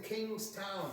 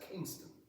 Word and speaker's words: Kingston: "I'm going to enlist in King's Town," he told the man, told the soldiers. One of them smirked and the other said, "It's not King's Town. It's one word and it's pronounced Kingston.